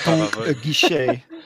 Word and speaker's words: Aguiche: Aguiche. I was expecting a bit more. I was expecting a more I've been to watch school flair than that. Aguiche.